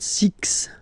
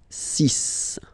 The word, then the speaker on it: six: sis sis Ok so It's Not Six It's sis All Right then Here